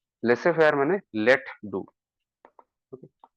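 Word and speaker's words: laissez-faire: Some people pronounce it as laissez faire, but it's laissez faire. Laissez faire माने let do.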